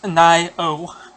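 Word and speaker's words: Nioh: It's pronounced Nio.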